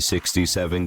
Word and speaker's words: 67: The 67 gang, pronounced 6-7, has terrorised people living